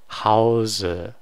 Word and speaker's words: Hause: So again, like even though this is going to be confusing because this word kind of looks like house, but the E is pronounced. It's not silent. Hause.